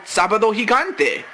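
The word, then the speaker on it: Sábado Gigante: Univision Saturday night entitled well in English it's gigantic Saturday but officially it's called sabad higante so the man from sabad hiate is here meanwhile Bradshaw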